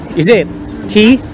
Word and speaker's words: Quay: That's how they pronounce it. Is it? Key? Not quail. Kala ko quay.